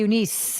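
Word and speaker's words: Eunice: Fernanda Torres as is a Unice is how they pronounce her name Unice um She's So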